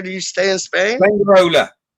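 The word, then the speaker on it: Fuengirola: Fengarola. How do you say it? Fengarola.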